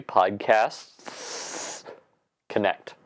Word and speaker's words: PodcastS Connect: the wrong thing because you have to add an S in after the word podcast. So it's actually PodcastS Connect. I know, really annoying, but I might say it like that a couple of times. Just to make it clear, there is an S before the word connect.